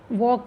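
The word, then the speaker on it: walk: वॉक, एल, वॉक में एल नहीं pronounce करते ना, लेकिन स्पेलिंग लिखते हैं वॉक, एल लिखते हैं, तो एल पे अंडरलाइन करिए।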